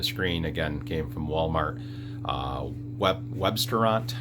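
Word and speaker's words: Webstaurant: Websterant, I think is how you say it, W-E-B, and then restaurant has a lot of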